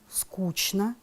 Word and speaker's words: скучно: Очень часто слова «конечно», «нарочно», «скучно» люди произносят с ЧН.